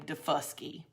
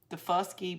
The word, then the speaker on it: Daufuskie: So the way they would pronounce it was the first key of of South Carolina. So that's where you get the name Dafuski.